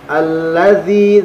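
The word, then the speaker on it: الذي: Alladzi, dzi panjang. Dza pengucapannya bukan da. Alladzi bukan seperti itu tetapi alladzi, dzi, alladzi panjang.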